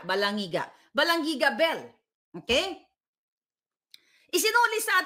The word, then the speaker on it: Balangiga: yung sa ano yun balangiga How do you pronounce it balangiga balangiga balangiga Bell Okay isinuli sa atin y after